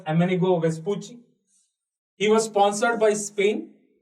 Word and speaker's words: Amerigo Vespucci: Next కొంచెం తర్వాత కాలంలో another sailor అమెనిగో వెస్పూచి, it has to be pronounced as Amerigo Vespucci.